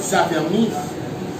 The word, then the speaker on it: s'affermisse: Un autre s'affermise. Et c'est un peu de voyelle, je prononce comme Z.